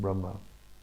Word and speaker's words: Brahma: There needs to be a long A in Brahma.